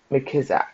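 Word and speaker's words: McKissack: Um, McKissick, McKizak and Frederick McKizak. That's how you say it.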